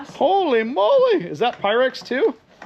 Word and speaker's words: Pyrex: How do you say Pyrex? Pyrex. Pyrex. Pi and Rex.